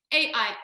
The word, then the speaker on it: Erez: Like I wrote it out like phonetically, like I've like wrote out like AIR-ES, like for me, like that's how I was like, that's how it should be said in my head.